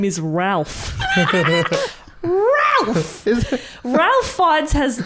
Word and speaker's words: Ralph: but his name is ralph it's that he pronoun doesn't he pronounce it rafe or something yeah which is it's